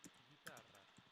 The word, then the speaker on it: guitarra: And if you want a hard G with an E or an I, what you do is you put a U in between. Ge, gi. Notice that I don't pronounce the U. Gue, gui. I say ge and gi.